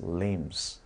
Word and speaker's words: limb: inflicted by oversized limbs，字母 b 不发音， limb 叫四肢，那么 oversized limbs